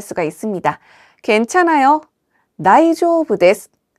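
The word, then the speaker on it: 大丈夫です: 다이조부 데스. 다이조부 데스. 이때 중간에 은은 장음으로 발음해서 다이조부 데스가 아니라 다이조부 데스라고 길게 발음해 주시고요.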